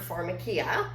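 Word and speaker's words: pharmakeia: time that pharmacy derived from a Greek word, pharmakia, which comes from the biblical version of pharmakia.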